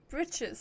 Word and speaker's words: breeches: Britches is another pronunciation of breeches. Bitches, britches, breeches.